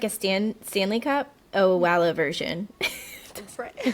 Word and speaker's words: Owala: Well, I I'm in Oh, it's actually I had to Google the pronunciation um before we started this. It's I believe oala.